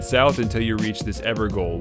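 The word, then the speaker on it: Evergaol: until you reach this ever goal which is apparently pronounced ever jail talk to the golden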